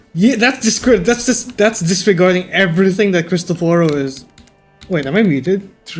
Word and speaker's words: Cristoforo: How were you pronouncing his name? Cristoforo. It's Cristoforo.